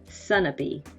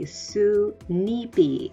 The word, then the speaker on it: Sunapee: So here in New Hampshire, we have a city called Sunapee. And the original pronunciation was probably Sunipi, and it means Goose Lake.